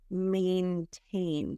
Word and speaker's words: maintain: mention before we continue is maintain so that's mine but may like the month of May a he may maintain and then confidentiality the